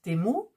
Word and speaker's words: Temu: prononcent timou et puisque le U normalement se prononce ou le i le E en anglais se prononce I et il y en a qui disent temou il y en a